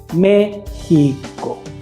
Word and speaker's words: México: a dividir esa palabra se divide en tres sílabas la primera sílaba acentuada entonces vamos a decir al niño que repita la palabra mexico siempre dándole énfasis al acento méxico gméxico y le vamos